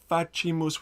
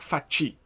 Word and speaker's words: facimus: Some of the solos are saying facimus with a hard C. Yeah, absolutely. There's some differences, but I would like faci. Chi as in cheese.